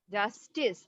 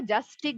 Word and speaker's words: justice: জাস্টিস, আচ্ছা তোমরা এটাকে জাস্টিক বলতেছো, এটা কিন্তু জাস্টিস। ওকে, সি উচ্চারণ হবে জাস্টিস।